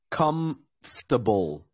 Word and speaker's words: comfortable: color come comfortable comfortable the way I say it is comfortable so I just I remove that and I say comfortable yeah comfortable company cover